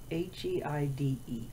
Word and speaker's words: Heide: It's not spelled the same, ending with an E instead of an I. But even so, I'm pretty sure it would sound the same if you said it out loud.